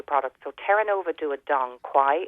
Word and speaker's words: Dong Quai: So Terranova do a Dong Quai. It's spelled DONGQUAI, and that has natural plant-based hormones in it.